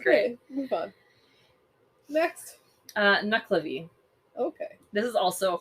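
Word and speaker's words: Nuckelavee: look these up um so it's knuckle knuckle avi i should say um so it is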